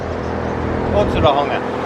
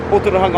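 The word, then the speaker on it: Ōtorohanga: I've learnt Oto. Oto. I've learnt Otorahanga, which I'm not sure about. And what was the other one this guy was saying? Dan, how did you pronounce it? What was your way of saying it, mate? Otorahanga. I reckon that's the right way, eh? It is. Yeah, he's Māori. Otorahanga. I'm going to go with that there.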